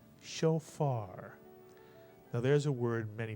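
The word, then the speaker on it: shofar: comms under the Fay first syllable would be show and the second syllable would be far put the word together and you get show far now there's a word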